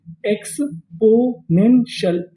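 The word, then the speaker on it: exponential: टी आई एल को हम लोग इंग्लिश में पढ़ते हैं शल। क्या पढ़ते हैं? शल। तो मीनिंग क्या बनी? एक्सपोनेंशियल।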